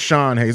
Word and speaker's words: Sean Haize: It's pronounced Sean Haize.